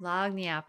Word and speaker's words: lagniappe: Lagniappe is how you say it.